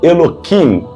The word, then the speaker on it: Elohim: o termo Elohim tá E os cabalistas pronunciam Eloim aqui nessas passagens o